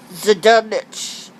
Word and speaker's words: Zdunich: I had made the man who wrote the one of the men who wrote it, Terrence, I want to say it's pronounced Zdunich, or something like that. It's spelled Zdunich.